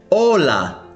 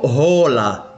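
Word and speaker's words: hola: هذا الحرف إذا أتى في أول كلمة لا ينطق. مثلا كلمة أولا أولا ولا نقول هولا أولا وهي أهلا.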